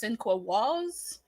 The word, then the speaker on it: Sinqua Walls: This has Brian Cox and I believe his name is pronounced Sinqua Walls.